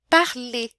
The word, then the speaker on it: parler: conjugado o verbo perder o r também não é pronunciado quando os verbos terminam em R né Eu não falo para ler né não tem esse R no final é parler termina com e é um e forte e aqui tem um